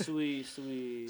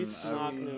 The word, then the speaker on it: Suoicsnocnu: I know it's unconscious backwards, but it's Suoicsnocnu. Suoicsnocnu. I had Yeah. no shot at saying that properly. So disrespectful. I've heard it all, man. Suoicsnocnu.